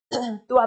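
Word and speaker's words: क्त्वा: हो गया त्वा प्रत्य इसको कवा बोल सकते हैं आप क्योंकि वैसे क साइलेंट रहेगा लेकिन आप इसको देखने के लिए कवा बोल सकते हमारे भी बच्चे जो 11 12 वाले वो कवा बोलते हैं तो कोई दिक्कत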